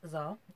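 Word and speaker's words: Xar: Okay, Zar, pronounced Zar because it's spelled with an X.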